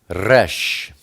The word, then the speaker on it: Resh: Next we turn to Resh. Resh is the number 200, and it's pronounced like an R, like Ruach.